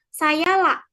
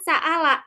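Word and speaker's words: سأل: Nah, dalam ee dialek Quraisy Hamzah ini tetap diucapkan jelas. Misalnya kata ee saala. Nah, dalam dialek Quraisy ini kata saala ini ee hamzahnya ini jelas. Sedangkan misalnya ee di dialekzail yang ee telah dijelaskan pada kelompok sebelumnya pada ee bahasa semit itu kan ee kalau saala ini dibacanya saya. Nah, kalau ee di dialek Quraisy ini ee apa namanya? Hamzahnya ini jelas jadinya saala gitu.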